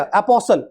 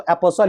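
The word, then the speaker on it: apostle: आप पसल क्या पढ़ेंगे ये टी हटा दो ये टी बिल्कुल आप हटा दो मेरे प्यारे बच्चों तो क्या हो गया अपोल तो अपोल ही पढ़ेंगे ये टी है लेकिन इस टी को पढ़ेंगे नहीं अपोल अपोल का मतलब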